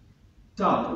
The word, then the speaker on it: Dub: Dub, or Duff, how it's pronounced, killed.